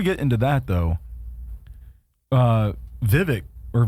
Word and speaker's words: Vivek: uh before we get into that though uh Vivek or Vivek how do you pronounce his name I mean that that dude was on point oh Vivek uh Swami yeah and he's I want to